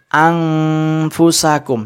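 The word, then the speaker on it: أنفسكم: Nah, bacanya yang benar anfusakum. Jadi anfusakum. Jadi non kemudian mengarah ke fa. Jadi anfusakum. Jangan sampai mengatup.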